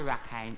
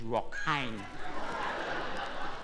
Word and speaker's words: rockine: It's not a rakhine, it's rockine.